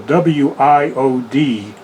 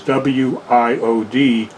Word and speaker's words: WIOD: You read them separately, like you said. Well, as an example, WIOD that's the way you would mention the station.